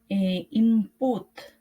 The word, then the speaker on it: input: as put or between, in is pronounced with an m, input, or in between.